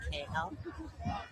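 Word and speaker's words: Kahel: Uh pronounced K L.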